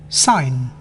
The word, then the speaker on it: sign: G is not often pronounced when followed by an N. champagne, Foreign, sign, feign.